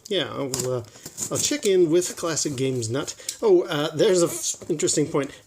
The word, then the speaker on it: ClassicGamesNut: did his name wrong it's not classic game nut singular its classic games nut plural so that's set worthy